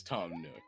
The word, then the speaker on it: Tom Nook: Oh yeah, I do have the actual pronunciation of that. It is Tom Nook. I'm surprised I didn't notice it when I looked up the name. Yeah. But it's just a pun. Tanuki, Tom Nook.